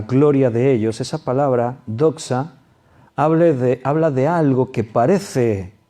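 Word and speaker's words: δόξα: Cuando dice y toda la gloria de ellos, la palabra gloria en el griego es doxa. Se escribe D-O-X-A, doxa.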